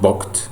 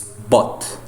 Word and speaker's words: bought: But here is the past of to buy, and of course we give or pay attention to the pronunciation, not booked, okay, or buffed. It's bought.